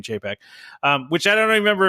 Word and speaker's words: Chapek: remember if what the right way to say it is chapek did I say did I say cha I don't know I don't even know what the right way is I don't care thought rhymes with paycheck I don't know paycheck